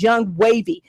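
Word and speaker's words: Yung Wavii: Again, I said his name is Young Wavy. That's spelled YUNGWAVII.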